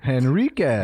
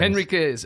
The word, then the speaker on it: Henriquez: Uh she offers the the pronunciation help, hen like a chicken. I appreciate that. Right. Henriquez. Henriquez.